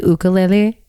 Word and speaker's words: ukulele: It's pronounced actually ukulele.